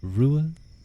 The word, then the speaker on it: Ruadh: My name is pronounced Rua Ua. Rua Ua. It's Irish-based, so the spelling doesn't exactly follow the typical English kind of Latin pronunciations.